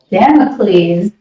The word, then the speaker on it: Damocles: The song I'm not going to try to pronounce it because I will screw it up, but it's spelled Damocles. Damocles.